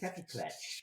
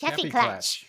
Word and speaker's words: Kaffeeklatsch: And it's spelled KAFFEEKLATCH. Kaffeeklatsch. Kaffeeklatsch.